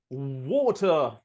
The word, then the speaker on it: water: I don't think of a vowel sound between these two. I just think tr.